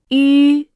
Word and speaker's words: 吁: When pronouncing, 吁、 the lips must be rounded.